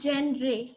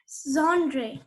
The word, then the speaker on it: genre: It's not genre. Genre.